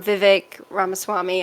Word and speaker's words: Vivek Ramaswamy: running for president who declared fairly early um Vivek ramaswamy I'm so sorry if I butcher that name